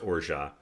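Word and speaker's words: orgeat: ounce of orega this spelled like orgy at if you see it in the store it's pronounced orja and it's a delicious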